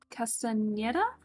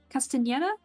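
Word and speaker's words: Castañeda: No, I know the N is pronounced differently with the little tilde in front of it. Mario Castaneda? Castaneda, I think?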